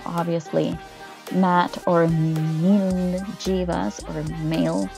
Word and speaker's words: Mail: Matt or Jeevas or male. I don't know how you guys pronounce it. According to the author, it's Mil.